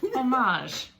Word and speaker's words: homage: to her yes beautiful see that's perfect french pronunciation oh i can say one word in french homage oh there's nothing all